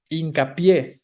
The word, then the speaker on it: hincapié: Hincapié, es una palabra aguda, hincapié, ¿no? Aguda terminada en vocal, entonces lleva tilde, compuesta por hincar y por pie, ¿no?